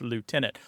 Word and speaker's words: lieutenant: Although Noah Webster, who had a tremendous influence on the pronunciation of many words in American English and United States English, did prefer the Lou pronunciation, L-I-E-U, to be pronounced, because he felt it hewed more closely to the etymological origins of the word.